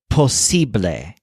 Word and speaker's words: posible: word for possible is posible with a stress on sip like sibling below the train some